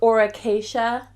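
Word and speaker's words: Aura Cacia: If you don't have access to her or to that brand, I like this Auracacia.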